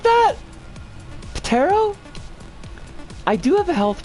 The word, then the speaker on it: Ptero: In Ancient Greek, the P in Pterophyllum is pronounced and not silent. Ptero.